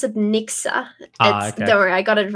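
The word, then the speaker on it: Nixu: work that you're doing there yeah so they pronounce it Nixa don't worry I got it wrong too my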